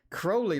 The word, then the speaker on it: Crowley: don't say Crowley okay Crowley like holy did he actually say that I thought that was a quote in his biography that he replied to somebody that was Crowley like holy rhymes with holy okay deposit we have